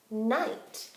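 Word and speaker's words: knight: let's think about this which letter is silent is it the K or the end it's the K so I'm going to say mmm I night this is kind of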